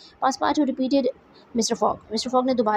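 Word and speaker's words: Passepartout: पासपार्टू is French word, और French में इसकी प्रोनाउंसिएशन थोड़ी डिफरेंट है. इसको हम पासपार्टू पढ़ेंगे, लेकिन इंग्लिश में हम इसको पासपार्टू प्रोनाउंस करेंगे.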